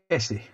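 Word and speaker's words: Esci: Old Esky kit. Yeah. It's pronounced Essie.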